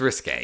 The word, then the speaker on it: Risque: risque is it risque or RI R it's risque it's very much risque okay I know it's spelled risque but I wondered if they were